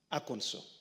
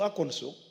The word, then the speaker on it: Arkansas: When we went to Arkansas, I know people call it Arkansas. It's not called Arkansas, it's called Arkansas. In fact, they have passed a law on the pronunciation of Arkansas. If you say Arkansas, they tell you, no, it is wrong. It is pronounced Arkansas.